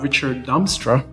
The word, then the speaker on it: Ričards Damstra: Un vārdā Ričards Damstra. Is that the right pronunciation? Yeah.